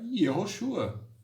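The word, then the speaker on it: יהושע: Lá no hebraico, o nome de Jesus é Yehoshua.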